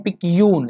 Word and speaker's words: picayune: क्या पढ़ते हैं भैया इसको? इसको पढ़ते हैं पिक्यून। जी हाँ, इसे पढ़ते हैं पिक्यून। ध्यान रखिए, यहाँ पढ़ते हैं पिक्यून, इसको प्रोनाउंस करते हैं।